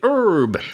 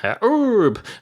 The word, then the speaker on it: herb: remedies and stuff and he used to say herbs without the H you'd say herb herb look at me I'm